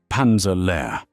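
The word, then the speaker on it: Panzer Lehr: SS Panza divisions, including the 12th SS Panza Division, Hitler Yugand, pronounced Hitler Yugend and Panza lair, pronounced close to pair.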